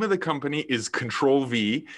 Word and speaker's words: Ctrl V: of the company is control v it's spelt like the control button on your keyboard ctrl and then the the letter v you can find it